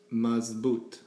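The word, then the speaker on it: مضبوط: going to look at is mazboot mabot this means f verm it's spelled mem swad B wow toy mazboot now when you connect these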